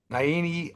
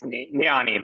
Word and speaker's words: Niani: Daniel Kramer, Naini. It's Niani, but that's okay.